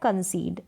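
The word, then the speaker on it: concede: दे रखा है कंसीड यहां पर उच्चारण दिया है मैंने हिंदी में कंसीड पढ़ा जाएगा इसको कंसीड में यहां पर भी ए है इस ए का उच्चारण प्रनंसीएशन लॉन्ग हो रहा है लंबा हो रहा है कंसीट का मतलब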